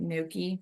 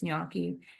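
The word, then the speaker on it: gnocchi: we had Yaki uh a lot of people pronounce it Noki but it's nyaki it's a Italian potato dumpling in a cracked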